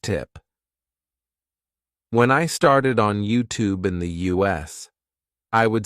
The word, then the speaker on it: YouTube: realized it's actually YouTube so the thing is in American English in words like student YouTube Duty new you would just say the sound oo instead of saying you so instead of saying